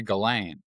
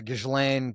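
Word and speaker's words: Ghislaine: God, it took me forever to learn how to say Galain. Yeah, Gishlain. Galain. It's Galain. The bottom line is when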